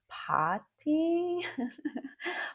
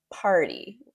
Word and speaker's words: party: British people might say something like party, but it's party in North American English.